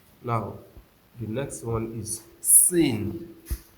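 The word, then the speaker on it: سين: Now the next one is sin. Sin. S I N. Sin. Sin. When you want to pronounce the letter of sin, you make your teeth to touch each other, placing one on the other.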